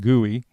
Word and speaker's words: GUI: a graphical user interface GUI pronounced guey is a way of